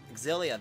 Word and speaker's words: Xillia: Or other words that actually do start with the letter X are actually very much Z sounds. So that's why I pronounce it, Xillia that way.